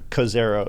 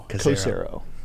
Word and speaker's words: Cozairo: So before I should let you know, Cozairo is how it's pronounced, and I did not tell you that. So Cozairo.